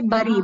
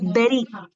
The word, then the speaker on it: bury: Yeah, we say bury because you have you, but it is berry. This U is not pronounced like a, this is pronounced like E.